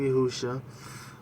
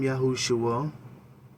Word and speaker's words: Yahusha: Some people call him Yahusha. Others call him Yahushua. It just depends on how you want to pronounce it. I choose to use Yahusha because that's what makes sense to me.